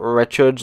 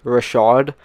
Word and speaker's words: Richard: created player Maurice Rashad and no it's not Richards like I thought my dad told me it's Rashad that's how it's pronounced and obviously we're picking the Montreal Canadians